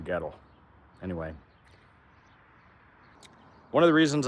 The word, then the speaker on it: Goettl: So, that's how you pronounce the name, ghetto.